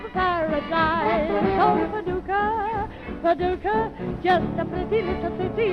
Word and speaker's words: Paducah: Oh, Paducah, Paducah, just a pretty little city in Kentucky, but with me it rhymes with lucky when I'm looking into two blue eyes.